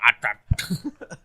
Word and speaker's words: Aptrick: It's traditionally pronounced Aptrick.